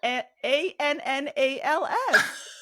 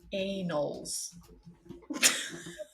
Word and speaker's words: annals: The annal, ANNALS, annals of history, which refers to one specific historical record by collection of restored. Read the pronunciation. Oh, okay, hold on. Pronunciation. Annals. A as in anal. Say annals.